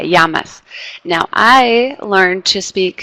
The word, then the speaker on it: llamas: It sounds like a Y. Yeah, llamas, not llamas, right? Like an L. It's like a Y, llamas.